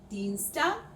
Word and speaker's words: Dienstag: German ie as in Dienstag sounds like the English double e in sea.